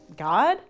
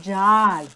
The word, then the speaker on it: God: God? It's pronounced Jod.